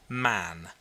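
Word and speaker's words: Mahon: white long beard and his name was Mahan but he insisted that it should be pronounced man he was well connected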